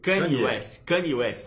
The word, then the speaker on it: Kanye West: A pronúncia é... Kanye West.